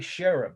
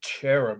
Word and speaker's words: cherub: well who's this though that is a sheriff or some people say cherub with a hard ch doesn't matter how you